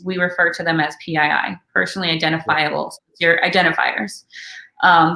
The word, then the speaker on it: PII: the introduction yeah yeah it's pi like the number link but it stands